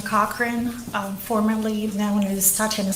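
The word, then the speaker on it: Cochrane: for me please my name is taana cochr um formerly known as Tana and my first name is spelled t a TI i a n a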